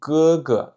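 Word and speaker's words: 哥: Ce caractère symbolise le grand frère, donc premier ton. Vous vous rappelez, le premier ton, c'est quelque chose de plutôt haut et monotone.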